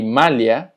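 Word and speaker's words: malha: La LH se pronuncia como li. Por ejemplo, filio. Filio, que significa hijo. Alio, que significa ajo. Ilia, que significa isla. Y malia, que significa malla. Entonces, la LH es li. Filio, alio, ilia, malia.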